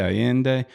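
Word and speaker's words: Allende: 25 years old and that's y too alende is that am I saying it right then aende I think it's pronounced but it's all good you're close you're Greeno aende acceptable alende aende but uh you know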